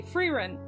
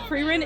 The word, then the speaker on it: Frieren: if this were German, like Himmel is the German word for sky. So if we're pronouncing it Germanically, it would be Frieren.